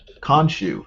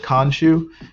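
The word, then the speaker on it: Khonshu: or is that just all in his head konshu that's how you pronounce it khanshu it says kanshu a real character is there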